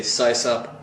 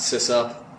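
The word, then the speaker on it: sysop: well by the way I say size up not sis up so yeah system operator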